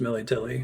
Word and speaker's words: Melitele: It is pronounced Melitele.